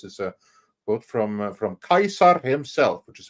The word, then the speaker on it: Caesar: the thing uh the the pronunciation of C has changed in Modern English whenever you see the